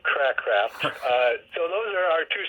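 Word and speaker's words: Cracraft: Oh, wait, I think now that you mentioned the first name, I think I remember Craycraft, I think. Craycraft, there you go. That sounds better than Crackcraft.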